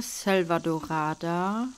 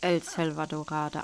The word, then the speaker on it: Selvadorada: Ich denke, ich habe in der vorherigen Folge den Namen falsch ausgesprochen. Ich glaube, es heißt nur Selvadorada und nicht El Selvadorada.